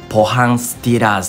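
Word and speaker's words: ポハン・スティーラーズ: この選手ですね韓国のポハンスティラーズと読むんですけどもこちらの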